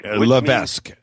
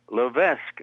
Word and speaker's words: LeVesque: his last name his name is tal Levesque Levesque in French Lees means the bishop okay and so he calls